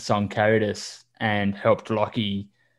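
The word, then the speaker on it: Lochie: I was calling him Loki forever. I mean, I don't know why, but I remember that people in the comments were like, his name is Lockie, like, right, you know, the pronunciation.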